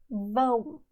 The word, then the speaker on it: vão: This can be a little tough because it's nasal, but you say it like this. Eles vão viajar.